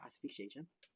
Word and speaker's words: asphyxiation: 아스픽시에이션. 스펠링 말해보세요.